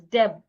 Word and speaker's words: debt: For example, if I want to pronounce the word d e bt, the letter b in this word is silent. So I should not pronounce the word as debt because the B is silent.